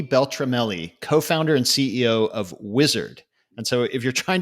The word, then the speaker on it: Uizard: co-founder and ceo of wizard and so if you're trying to find it it's it's the word wizard but instead of a w it's spelled with a u in the beginning so that's a little